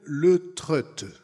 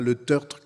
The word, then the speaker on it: Le Treut: nom comme il faut alors il faut que je dise que hervé s'appelle le trust est pas leteurtre comme je les dis